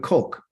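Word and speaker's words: חוק: The kok. This is how you say decree in Hebrew. And it's spelled CHOQ.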